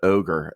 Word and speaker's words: ohGr: they're big and um a guy called ogre that's spelled o-h-g-r and uh yeah ohgr